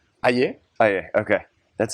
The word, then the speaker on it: Aye: How do you pronounce Calvin's last name? Aye.